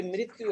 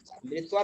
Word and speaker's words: मृत्यु: मृत्वा, यहाँ पे मृत्यु है, मृत्यु, मृत्वा नहीं। इसमें मृत्वा में क्या हो जाएगा, वा का उच्चारण नहीं होना चाहिए, मृत्यु, मृत्यु आप पढ़े हो, ध्यान दीजिए।